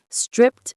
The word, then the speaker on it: stripped: Stripped down. Stripped down. The T sound at the end of stripped is very soft.